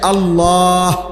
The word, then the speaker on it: আল্লাহ: উচ্চারণ হইতে হবে শেষে আল্লাহ শেষে একটা গোল হা আছে ছোট হা আল্লাহ মানে আল্লাহু তো